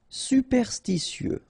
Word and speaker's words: superstitieux: Superstitieux, okay, so final X not pronounced.